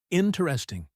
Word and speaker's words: interesting: The stress is on the first syllable. Repeat, interesting.